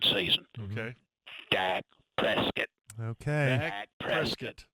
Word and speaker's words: Dak Prescott: Dak Prescott. That's the pronunciation.